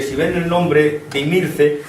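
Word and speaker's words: Himilce: Posiblemente es de ascendencia púnica, de ascendencia cartaginesa, porque si ven el nombre de Imirce, la H latina es una H latina que desaparece, que no se pronuncia.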